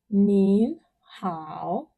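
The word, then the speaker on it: 您好: You say nin hao, nin hao.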